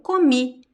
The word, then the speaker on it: comi: So past tense, the stress is at the end. So the last I sound is very strong. Eu comi.